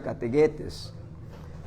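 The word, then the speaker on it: kathegetes: Se escribe categetes, se pronuncia categuetes.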